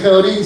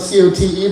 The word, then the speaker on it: Cote: So my name's Cote, spelled C-O-T-E, but it often gets mispronounced. I'd get phone calls to the house back in the day, "Is Mr. Cote there?"